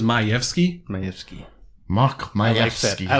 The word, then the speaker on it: Majewski: We say Majewski. Oh, Yeah, but what was the Polish? I think it was Majewski.